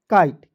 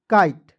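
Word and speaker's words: kite: से क होता है आई टीई का उच्चारण दोस्तों आइट के रूप में करेंगे तो क्या हो जाएगा काइट के आई टी ई काइट clear उसके बाद दोस्तों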